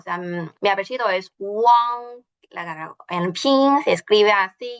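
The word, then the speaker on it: 王: Y de hecho, se pronuncia como Wang.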